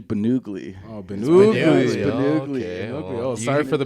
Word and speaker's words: Ben Ugly: funny thing about that everybody thinks it's been ugly but it's actually bennugly sorry for the mispronunciation